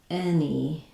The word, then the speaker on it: anybody: Nobody sounds like nobody and anybody sounds like anybody.